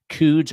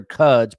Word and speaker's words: Cuds: And by the way, Nikki Cuds, we were debating Coods or Cuds, but we found out Cuds for the win. Rhymes with Cubs.